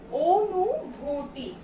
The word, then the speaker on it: অনুভূতি: একইভাবে এখানে দেয়া আছে অনুভূতি, কিন্তু এটা আমরা ওর মতো করে উচ্চারণ করি, সেটা কি? অনুভূতি। ও নু ভূতি।